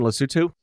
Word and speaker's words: Lesotho: I was actually born in Sri Lanka, but I grew up in Lesotho. Is that the correct pronunciation, Lesotho? Yes.